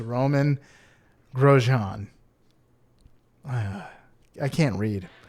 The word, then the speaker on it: Romain: uh Formula One driver Rome Romaine it looks like Romaine but it's Roman grosjean I I can't